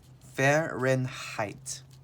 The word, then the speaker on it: Fahrenheit: called a thermometer so let me help you pronounce this word fahrenheit fair ren height fair in height this is 32 degrees